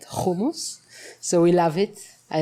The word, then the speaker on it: hummus: Israeli we love hummus I say hummus please let me pronounce it right homos so we love it